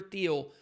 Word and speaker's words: Thiel: his Facebook board member Peter Thiel or Peter Thiel maybe it's pronounced teal um and Donald Trump